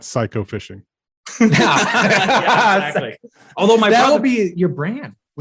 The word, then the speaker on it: Cayko: My brother is a professional hunter, and he's starting a channel that's going to be called American Psycho, because that's how you pronounce our last name.